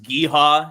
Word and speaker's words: GEHA: It's pronounced Geehaw if you're a local.